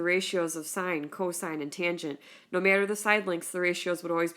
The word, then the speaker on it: tangent: all right and so you'll always read a tangent but if you notice in the formula it's written as tan and then that's the